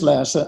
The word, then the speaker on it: Lasse: spell your name yes my name is Lassa and if you're pronounced in Danish um it's spelled l